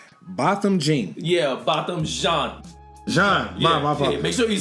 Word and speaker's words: Botham Jean: Yeah, Botham Jean.